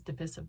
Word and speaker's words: divisive: tomato piece Accord after the pronunciation of the word divisive SmackDown at joblot in 2014 it is divisive by the way and don't forget the